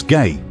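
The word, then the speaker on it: Gey: samples were sent to Dr George gay pronounced as gay who is the head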